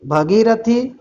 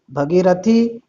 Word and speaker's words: भागीरथी: और फिर से शुद्ध वर्तनी वाला शब्द है, देखिए भगीरथी, भागीरथी, भगीरथी, भागीरथी। तो सही जो इसका शुद्ध उच्चारण वाला, शुद्ध वर्तनी वाला जो शब्द है वो होगा भागीरथी।